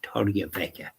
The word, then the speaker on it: Torrevieja: Alicante, a place called Torrevieja, spelt not the way I'm pronouncing, but that's the way it was pronounced.